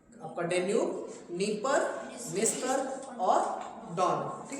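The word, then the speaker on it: Dnieper: है डॉन और Danube N से नीपर और निस्तपर में डी साइलेंट भी है ठीक है ध्यान देना नीपर में क्या है नी सॉरी डी जो है साइलेंट है तो डी से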